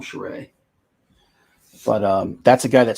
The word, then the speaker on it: Charest: Another guy would be Travis Charest or Travis Karst, depending on who you're asking. He would say his name is Charest, so I'm going to call him Charest.